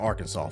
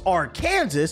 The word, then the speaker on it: Arkansas: the states Kansas and Arkansas for example Kansas is pronounced Kansas Arkansas is Kansas with an AR in the front so you would think it'd be pronounced AR Kansas but Noe it's Arkansas